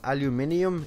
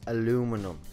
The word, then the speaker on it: aluminium: the obvious ones like this is not aluminium it's aluminum and this is not